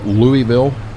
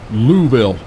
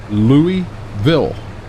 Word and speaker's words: Louisville: and yells at me louville where's the S at there's an s in there you got to pronounce that s Louisville um not we don't